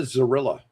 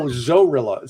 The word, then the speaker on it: Zorilla: Um, oh, it's named the China Zerilla. China. China's gorilla. No, Zorilla. Spelled like gorilla but with a Z.